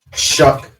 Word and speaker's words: Shuck: It's possible that he gets out there and they're way more confident that Shug is that how you say it? Shug? shuck, like Shuck. fuck, but shuck. Okay, okay. Like shuckers.